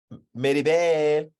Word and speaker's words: Mirabel: I mean, Maribel's not dark and gloomy, but she was obviously the outcast in her family. Like, that's not how you say her name. Mirabel. Mirabel.